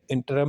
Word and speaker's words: interim: Temporary and इंटरम injunction, ये इंटरम नहीं होता, इंटरम इंजंक्शन होता है। हम भी गलत पढ़ते रहते हैं हमेशा। तो ये इसकी प्रोनाउंसिएशन यही है, इंटरम।